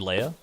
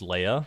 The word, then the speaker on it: Leah: And then some people in chat were like, "Oh, I like how you say her name is like Leia instead of Leah, like it's actually supposed to be."